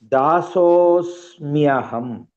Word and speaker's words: दासोऽस्म्यहम्: Pronounce properly the second word. Dasosmyaham. दासोऽस्म्यहम्. There are two letters, half sa, half ma. Okay.